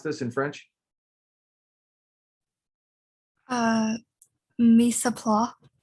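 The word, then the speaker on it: mise en place: so it looks like misoplas is that how you would pronounce this in french uh mesa pla because we don't say the s or that's what my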